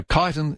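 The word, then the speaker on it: Chiton: So kiten is c h i t o n.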